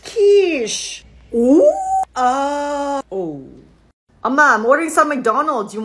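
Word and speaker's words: quiche: you can't say that I love Qui stop it's pronounced Kish I'm ordering some McDonald's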